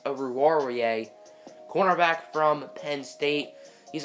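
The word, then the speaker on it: Oruwariye: away or over warrior I think that's actually how you say it I've been saying over ruler away this whole time but I actually think it's over warier cornerback from Penn State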